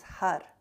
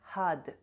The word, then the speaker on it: Har: And mantra is Har. It's a little difficult, it has rolled R. If you cannot roll your R, it's easy for me. I'm from Kazakhstan, I speak Russian. I'm like, I can roll my R. But if you cannot roll your R, pronounce it as H-U-D, Had, Had. So your tongue hitting the back of your teeth, Had.